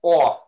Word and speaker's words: awe: i uh ow that's a hard one it's awe oh like when you see something really amazing